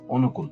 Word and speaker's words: অনুকূল: অ এর উচ্চারণ নাই অনুকূল এখানে ল এর সাথে অ এর উচ্চারণ নাই তাই হসন্ত হয়েছে অনুকরণ করণ এখানে দন্তন